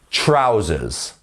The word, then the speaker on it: trousers: you can see here the stress is once again on the first syllable trousers trousers not trousers trousers great um next